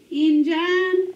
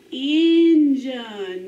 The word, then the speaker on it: engine: that work no that's not going to work enzyme have you ever heard of the enzyme no what could this do it may make the schwa sound patent so let's try that and john a word engine that's right now let's try this next word